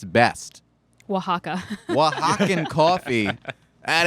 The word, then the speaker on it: Oaxaca: From Oaxaca. Are you impressed that I knew Is how that to how you pronounce that?